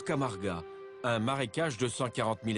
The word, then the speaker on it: Camarga: lève sur la Camargue en occitan cela se prononce camarga un marécage de 140